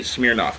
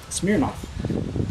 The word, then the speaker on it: Smirnoff: because of the way he likes to say Smirnoff, too. Smirnoff.